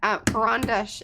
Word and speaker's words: Karandash: Panka says that Karandash is the name of a pencil from Russia. Pronunciation is A like apple. Karan.